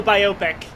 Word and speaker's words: biopic: This reminds me of Gary Brandon talking about how biopic should be pronounced analogous to biography. Oh, biopic.